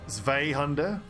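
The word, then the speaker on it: Zweihänder: the A, so maybe Zweihunde. Not Zwei, it's Zweihunde, is it? Zweihunde. But I was taught to pronounce Zwei as in two, with the I sound, Zweihunde.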